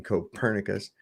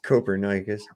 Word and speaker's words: Copernicus: quote by Copernicus everybody mispronounces his name and calls him Copernicus it's Copernicus anyways is it the Pythagorean